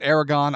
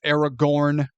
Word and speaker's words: Aragorn: I pronounce it Aragon. I understand it's Aragorn.